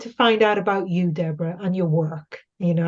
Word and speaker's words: Deborah: Well, they can find me at Deborah, and my name Deborah is DeBorah, Mhm.